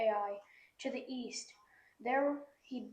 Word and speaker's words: Ai: the west of AI it's just pronounced ai ai to the east there